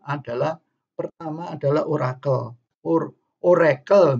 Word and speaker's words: Oracle: pertama adalah orator our Oracle bacanya Raikal itu kalau ada di